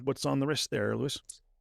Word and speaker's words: Louis: Well, usually, uh you know, it's technically pronounced Louie, but everybody calls me Lewis. So, it's Lewis.